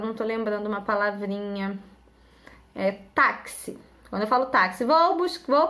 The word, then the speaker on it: táxi: Táxi. Quando eu falo táxi, vou pegar o táxi. Táxi se escreve com X, mas tem som de CS ou de KS, tá bom?